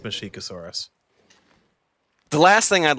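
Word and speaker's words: Masiakasaurus: Mashikosaurus, how do you say that? Mashikosaurus. I don't know why I thought the other one. Mashikosaurus. Well, because it's spelled Masiacosaurus, but it's pronounced Mashikosaurus.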